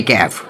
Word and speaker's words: ক্যাফে: এটা হচ্ছে Anglo Mughlai ক্যাফ, এখানে এসব কেফ নয়, ক্যাফে। বাঁটলের এই এক দোষ, ভুল উচ্চারণ কিছুতেই বরদাস্ত করতে পারে না।